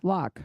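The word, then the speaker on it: Lough: could look it up the law you know the l-o-u-g-h I never used to pronounced I think it's luck yeah lock okay only in Ireland but lr-u-g-h-b pronounced lock right anyway it's not it's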